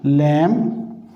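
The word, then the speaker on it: lamb: इस तरह से कॉम, बॉम, टूम, और इसी तरह से हम लैम, यहाँ पे भी साइलेंट होगा।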